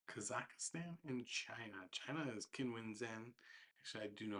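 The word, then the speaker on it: Zheng Qinwen: China is Qinwen Zhen. Actually, I do know how to pronounce her name. It's Zhen Xinhuan.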